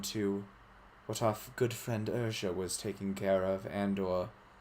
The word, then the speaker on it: Urja: Urja. Thank you. Urja. How do you Ugra. spell that?